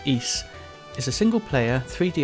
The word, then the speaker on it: Ys: today I'm looking at East 6 The Arc of nepistem E6 spelled Ys but pronounced East is a single player